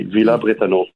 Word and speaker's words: Villers-Bretonneux: How would I say that in French? It would be Bretonneux. It's E-U-X, Bretonneux. It would be Villa Bretonneux.